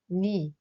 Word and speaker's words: 네: With the possessive particle 의, 나 gives 나의 or 내, 너, 너의 or 내, but we pronounce it like 니, and 저, 저의 or 제.